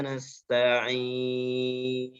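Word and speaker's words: نستعين: Iyyaka na'budu wa iyyaka nasta'in. Sin sukunnya sama seperti bis, dia harus ada desisan nafas. Dan terakhir adalah huruf nunnya. Nun yang sukun aridli, sukun karena sebab waqaf dan diucapkan secara jelas.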